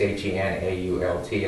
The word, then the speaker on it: Henault: I believe he pronounces this Henault. It's Henault out of Medford.